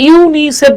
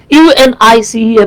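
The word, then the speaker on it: UNICEF: যে আপনি কিন্তু এটাকে ইউনিসেফ বলতেছেন ইউ এন আই সি এফ বলতেছেন না তার মানে তার মানে যেগুলো অ্যাক্রোনিম সেগুলো উচ্চারণ হবে শব্দের মত আর যেগুলো এব্রিভিয়েশন সেগুলো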